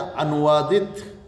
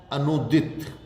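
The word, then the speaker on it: अनूदित: अनुदित शुद्ध होगा अनुदित या अनुवादित। ये हम लिखते हैं अनुवादित नहीं, अनुदित। न के बड़ाऊ की मात्रा और दित, अनुदित।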